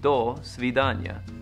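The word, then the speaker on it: до свидания: The word is do svidanya, properly pronounced do svidanya.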